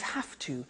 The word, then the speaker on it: have to: pronunciation I have to notice I don't say V I say f have have it becomes have to have to becomes in pronunciation have to have to okay so I have to